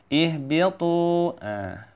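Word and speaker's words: اهبطوا: Ihbitu. Bacanya ihbitu itu ya, bacanya ya. Ihbitu, jangan sampai salah bacanya ya. Tu-nya dipanjangin 2 harokat.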